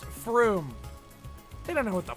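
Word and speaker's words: Frome: That's just from with an E on the end. It's pronounced from. It's pronounced froom.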